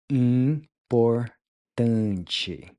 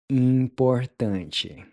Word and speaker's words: importante: Then finally, the IM is a nasal sound which is pronounced sort of like in, except you don't quite finish pronouncing the G at the end.